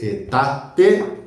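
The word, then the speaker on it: aetate: A E pronunciado E. De etate aurea.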